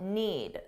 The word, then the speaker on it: need: Notice that I didn't pronounce the D, need. Because if I do that, it forces me to take a pause, which slows me down. So if you don't pronounce that D at the end, you'll be able to speak faster.